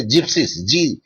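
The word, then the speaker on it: gypsies: జిప్సీస్ అంటారు దాన్ని, mostly జిప్సీస్, G sound వస్తుంది దాంట్లో. Anyway, come to the point here.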